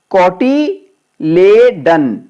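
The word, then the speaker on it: cotyledon: अंग्रेजी में इसको बोलते हैं कोटिलेडन। कोटिलीडन बोल दो, कोटिलेडन बोल दो, उच्चारण के अलग अलग डिफरेंट उच्चारण होते हैं।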